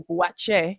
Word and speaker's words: Buatsi: next fight is Joshua Buatsi, Joshua Sena Buatche, if you pronounce it correctly, and Callum Smith, light heavyweight bout.